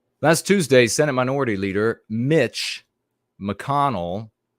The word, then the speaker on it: Mitch: Last Tuesday, Senate Minority Leader Mitch McConnell, first name rhymes with another word, usually reserved for female dogs.